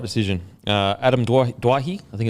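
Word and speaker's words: Doueihi: duahi I think it's Dwight that's what he said I think it's Dewey they sit on The Telecast yesterday that he wants it pronounced Dewey because that's how it's pronounced for his father yeah because I had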